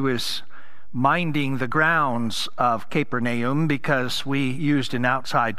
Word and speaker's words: Capernaum: As I've shared with you before, if we were to pronounce it correctly, it'd be Capernaum, but everybody knows it is Capernaum.